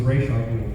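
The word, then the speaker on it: Ra's al Ghul: Well, we asked Danny, he was convinced it was Ray Shaw Rule. He said it's RAS and with the accent on it is Raish, and so we always went with that.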